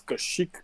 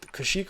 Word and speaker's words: Kashyyyk: __ ] paste come from exactly it was Kashyyyk kinda but maybe not no no oh Kashyyyk or a bunch of sand people aren't they